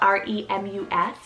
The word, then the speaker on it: Remus: another harry potter inspired name here we have remus spell r-e-m-u-s remus it's one of the twins who actually